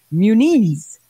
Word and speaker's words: Muniz: wants it pronounced well the official way to pronounce it is Muniz Muniz Muniz got it again it's not gonna be munas yeah okay put put I can't even say